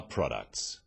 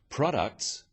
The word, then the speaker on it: products: let's move on to the conclusions about our products after sales service is critical stress occurs in words and sentences in words one syllable is stressed the wrong stress makes it